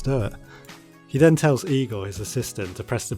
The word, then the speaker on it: Igor: you must be Igor now it's pronounced I go but they told me it was Eagle well they were wrong name weren't they you